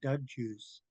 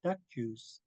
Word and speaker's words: Duck Juice: And so when I use a G, people who aren't familiar, will pronounce my name wrong and they'll call me Doug Juice. But my name's not Doug Juice, it's Duck Juice.